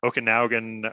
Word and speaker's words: Okanagan: in the okan I'm gonna say it wrong Okanagan Okanagan Valley that that comes down from BC